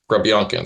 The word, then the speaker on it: Grebenkin: But whenever you listen to the Russian broadcast, they always pronounce it Grebenkin. So that's how I'm going to say it.